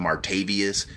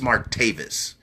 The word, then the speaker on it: Martavis: know what I love I love how many people mispronounce his name and call him martavius no it's Mark Davis y'all just think that